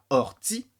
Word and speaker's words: Kaori: manière au hasard déjà ça se prononce Corti il faut le savoir et cela signifie elle remue